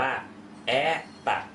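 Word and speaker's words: это: ภาษา รัสเซีย นั่น เอง อัน นี้ อ่าน ว่า แอ ตะ นะ ครับ อ่า นี้ ถูก นะ ครับ แอ ตะ เพราะ ว่า อุดา เนี่ย อยู่ ที่ พยาง หน้า โ ตัว นี้ เลย ต้อง ออก เป็น สระ อ นะ ครับ แอ ตัด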